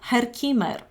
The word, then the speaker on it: Herkimer: right in English but this is how it's pronounced in actually in Germany Herkimer so I hope you